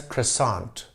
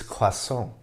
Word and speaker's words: croissant: sometimes pronounce croissant as croissant the french pronunciation is croissant in the 1830s an